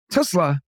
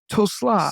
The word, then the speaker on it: Tulsa: Tesla. Tulsa.